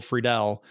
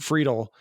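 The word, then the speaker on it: Friedle: We would just call him Will Friedel. And then he posted a thing where it said it's pronounced Friedel.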